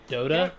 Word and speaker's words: Dota: netflix they also have datto i think or how do you pronounce it whatever pc game ditto dota pronounced yeah dota that's what it is the